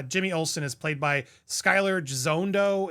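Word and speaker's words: Skyler Gisondo: Uh Jimmy Olsen is played by Skyler Jondo is how you say his name.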